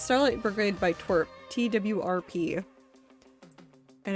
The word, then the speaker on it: TWRP: It's Starlight Brigade by Twerp.